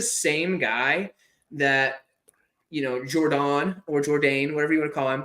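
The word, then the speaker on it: Jourdain: think it's dawn like I think it's jordane whoever speaks whoever you're trying to French it up a little too much it's jordane I'm pretty sure okay somebody from Canada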